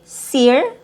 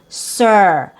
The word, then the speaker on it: sir: So you don't want to say sear, like in sit, that's short I. Here we don't have a short I sound, we have a schwa+r sound, sir.